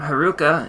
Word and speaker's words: Heruka: chakra sambar is Haruka the Sanskrit term Haruka is composed of three syllables he Ru and C he teaches of The